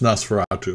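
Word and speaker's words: NOS4A2: is Stephen King's son that's called um it's pronounced Nas veratu but it's N4 A2 oh M Fatu I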